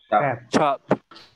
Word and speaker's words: cap: You can see this one is the sound of C, ch, chamber. Okay, please don't say k.